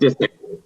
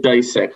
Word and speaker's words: Disick: Disick. Isn't that what I said? No, you said Disick, like a Dyson vacuum cleaner. Not like you just pronounced the I.